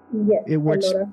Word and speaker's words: Ellora: I think it's the Ellora Caves. Am I saying it right? Yes, Ellora Caves.